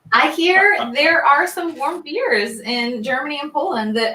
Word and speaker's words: Warmbier: i always say it wrong but is it warm beer beer there's so yeah yeah god is german